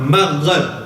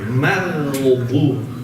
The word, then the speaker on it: مغضوب: It's not maghrib. It's not maghrib. Okay? It's same as ayn. Maghdub.